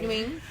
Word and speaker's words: Nguyen: Wing. Nguyen. Wing. You don't say the N. It's kind of silent.